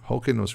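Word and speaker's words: Hyrcanus: Historians, basically what's known as Yochanan Holkinos or John Harkinius, or Holkinos really is the way it's supposed to be pronounced.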